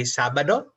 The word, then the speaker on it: Sabado: We say Sabado.